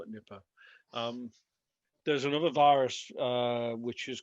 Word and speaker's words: Nipah: Well, I referred you to a virus called Nipah, although people pronounce it differently. Being from Liverpool, I call it Nipah.